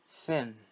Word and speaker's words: thin: Thin. Thin. So let's remember that when I pronounce the TH, I project my tongue between my teeth.